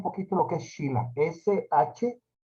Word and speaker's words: Shila: S-H-I-L-A, Shila, se pronuncia en sánscrito.